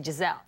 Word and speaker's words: Gisele: he said in Portuguese because we say I in the end of the L here you eat the eye you know you only say Giselle okay this is the